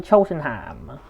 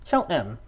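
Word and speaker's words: Cheltenham: I'm in Cheltonham or as it's correctly pronounced, Chelham.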